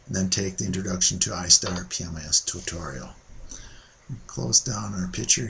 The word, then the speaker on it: I*PMIS: like the intro to istar pmis hotline and here we are welcome to the introduction to istar pmis presentation istar pmis pronounced I star pmis is a comprehensive project